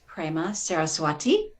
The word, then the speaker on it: Prema Saraswati: to call you friend her name now is prema saraswati am i pronouncing that correctly yes but i've known her